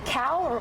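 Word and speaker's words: Cowell: to play of Simon Cal because Cal rhymes with scowl he always has this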